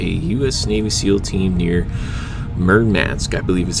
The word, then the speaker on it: Murmansk: to insert a u.s navy seal team near mermats i believe is how it's pronounced a large russian seaport and so without